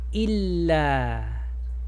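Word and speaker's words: إلا: Illa. Porque el shedda hace doble L. Il. La. Illa.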